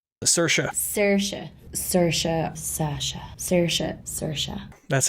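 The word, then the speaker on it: Saoirse: right all right sersa sersa sersa Sasha sersa sersa that's how you pronounce her name it's crazy and then the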